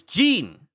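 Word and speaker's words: Ging: So it's Jean. Jean. His name is Jean.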